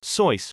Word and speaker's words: Seuss: mother's maiden name and their family pronounces it as soy rhyming with voice soo's college friend alexander